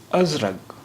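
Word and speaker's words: أزرق: ازرق، ازرق. اب دیکھیے یہاں قاف کا تلفظ گا کی طرح ہو رہا ہے.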